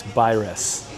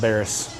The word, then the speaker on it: Baines: It's Baines. It's not Barris. So that's number 1. I just asked the wonderful hostess lady here how to say it.